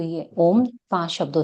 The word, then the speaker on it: ओम: हम डायरेक्ट उ और म करते हैं। बट होता अ उ और म है।